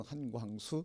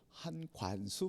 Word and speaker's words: 한광수: 오, 한관수 목사님. 아니에요. 아니에요. 관수가 아니라 광수입니다. 이래도 발음이 안 된 거예요. 광이 발음 안 돼. 이응이 발음 안 된 거예요. 그 이응을 니은으로 관수.